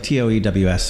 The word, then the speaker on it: Toews: Yeah, but it's spelled weird. We'll talk about that a little bit. It's like Toews.